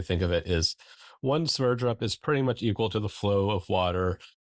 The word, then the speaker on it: Sverdrup: Sverdrup.